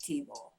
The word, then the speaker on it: Thibault: It's spelled Thibault, but it's pronounced Thibault.